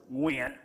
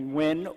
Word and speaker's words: Nguyen: As you heard, my name is Nguyen, but in Vietnamese it's actually pronounced Nguyen. Very difficult for people to say, especially in America. So growing up, people started calling me Nguyen or Nguyen, and it